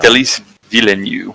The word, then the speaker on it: Denis Villeneuve: Denis Villeneuve, I believe is how it's pronounced.